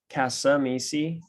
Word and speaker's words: Cascamisi: My name is Cascamisi. That second C is silent.